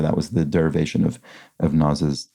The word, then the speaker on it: Nas: EQ explains, On Naz's album, I Am, he has a song called